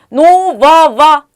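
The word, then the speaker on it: нового: 형용사 생격은 노바바 오바가 됩니다. 오바. 예, 여기서도 그로 끝나고 있는데요. 그는 우로 읽습니다. 우리 이보 할 때하고 똑같아요. 네, 노바바라고 읽고요. 액센트가 앞에 있기 때문에 아바라고 읽으면 됩니다.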